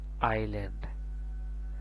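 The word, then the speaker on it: island: আসে এখানে হবে ডাম এখানে এস এর উচ্চারণ না আসে এখানে হবে আইল্যান্ড সেম একরকম এখানে এস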